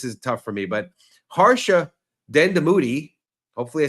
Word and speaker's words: Harsha Dandamudi: No, my name is Harsha Dandamudi.